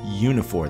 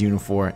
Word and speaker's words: Uniphore: guest we have the co-founder and ceo of unifor that is spelled u-n-i-p-h-o-r-e um welcome to the show albert